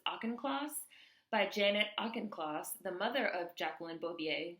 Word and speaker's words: Auchincloss: Lowe was handpicked for the job by Janet, I believe you pronounce this Auchincloss, the mother of Jacqueline